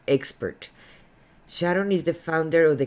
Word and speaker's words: Sharón: my name it's pronounced sharon um like the song my mama my sharona without the a i'm sorry uh sharon